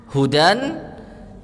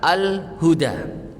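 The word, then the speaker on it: هدى: bisa pakai alif lam Hudan dan Al Huda ya kalau nggak pakai alif lam bacanya gimana hujan kalau pakai alif lam Al Huda nah Hudan yang tanpa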